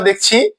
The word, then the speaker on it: দুঃখ: এই শব্দটিতে আমরা দেখছি খ ধ্বনিটির সাথে অকার রয়েছে এবং এর পূর্বে বিসর্গ রয়েছে। নিয়ম অনুযায়ী খ ধ্বনির সাথে যে অকারটি রয়েছে সেটি ওকার রূপে উচ্চারিত হবে।